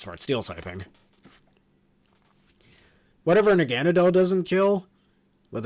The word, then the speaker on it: Naganadel: Naganadell's design is also really sick, and please don't pronounce this Naganadel. Naganadel, that sounds way better, in my opinion.